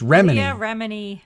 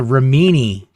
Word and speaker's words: Remini: It's Remini. Leah Remini. I always confuse myself on the right way to say it because Oh my God, you know how to say it. Just stop talking. The whole time I was in Scientology, I called her Ramini.